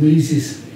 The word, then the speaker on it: Mises: M-I-S-E-S. Mises, right. Mises, yeah, some people have pronounced it Mises.